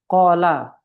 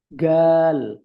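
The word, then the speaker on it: قال: Orang Aswan bilang gal. Hum galu Nah, ini tergantung masing-masing daerah. Qala dibaca ala. Kalau orang-orang Aswan itu orang-orang dekat-dekat arah Sudan itu bacanya gal dia.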